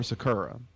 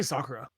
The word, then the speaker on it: Sakura: lot of work yes we pronounce is a soccer or Sakura i say Sakura that's why I say cuz I'm a weeb anyway losers finals we